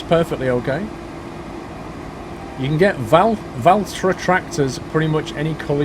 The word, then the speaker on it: Valtra: Valtra is how you say it.